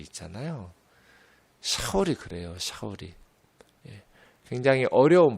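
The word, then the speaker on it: שאול: 사울은 그냥 사울 이렇게 읽으면 못 알아들어요. 원래 샤울이에요. 샤울. 샤울이라는 말이 히브리 말 이스라엘 말이다 보니 발음하기가 어려워요.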